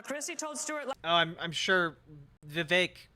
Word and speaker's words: Vivek: I'm sure Vivek rhymes with cake is going to have a great take on this.